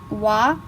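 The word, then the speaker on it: は: So also, the particle wa is written as ha, which you saw in the text.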